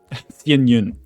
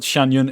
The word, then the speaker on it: Yun: It's not Shyun, it's Yun.